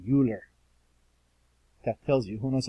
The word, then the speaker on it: Euler: his name is extremely famous mathematician and you pronounce it euler french monsieurs say euler most non-students say euler that tells you who knows about functions and